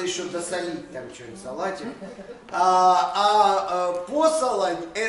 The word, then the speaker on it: посолонь: Посолонь. Ну, ударение и так ставят. Посолонь.